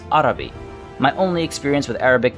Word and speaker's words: Araby: likely to see now first things first how is the name pronounced era v is certainly the english pronunciation but considering i try to get the french accent in for everything from Bertoni a-- i'm going to do the same for these guys and assume the actual pronunciation is adavi my only experience with